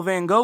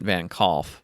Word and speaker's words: Van Gogh: And so that's why I don't pronounce it Van Gogh or Van Gogh. yeah, because that's the closest to the Dutch pronunciation actually.